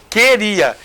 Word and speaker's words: queria: U aqui nesse caso queria você não fala você não pronuncia a letra u mas é letra continua